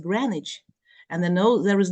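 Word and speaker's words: Greenwich: the word certificate and there nose Green in the word granich and the no there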